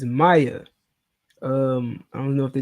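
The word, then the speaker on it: Maia: I know it's supposed to be pronounced Maya, like May hyphen I AH.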